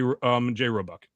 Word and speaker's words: Roebuck: Did I pronounce that right, Roebuck? Yeah, you got it right, Roebuck.